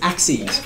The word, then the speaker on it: axes: right of axis yeah it is spelt exactly the same as like axes like it's in like throwing axes but it's axes okay i've got two